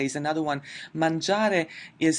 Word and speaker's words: mangiare: as studiare and then mangiare is another one, mangiare is spelled with g-i-are, we don't pronounce the 'i' it only serves the purpose of softening the pronunciation of the G letter but it's there it's spelled there.